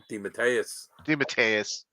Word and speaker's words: DeMatteis: DeMatteis.